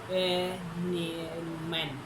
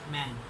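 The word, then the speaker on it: 们: So for this we use men. The word for whole, that's men. M E N, man. It's not the man. English. It's not man. Man. E pronunciation like man, man, man.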